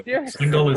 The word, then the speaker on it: Singhal: So Singhal is perfectly fine.